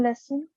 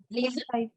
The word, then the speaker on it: lesen: Zeitung lesson. Find Zeitung, it, not Zeitung. Zeitung Zeit- lesson, lesen. Zeitung lesson. Freunde Yeah, treffen. it's like, okay, the pronunciation for reading is lesen.